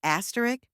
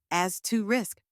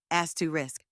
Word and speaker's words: asterisk: First, as, like in ask. Next, like a quick to sound. And finally, risk, just like the word risk. Now, say it with me as to risk.